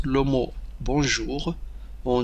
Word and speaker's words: bonjour: هنا كما تشاهدون N لا ينطق، N حرف N لا ينطق. هذه O plus N on c'est on. Bonjour bonjour، c'est pas bonjour. N لا ينطق N، وإنما نقول bonjour bonjour. Ne prononcez pas la lettre N. La lettre N ne doit pas être prononcée.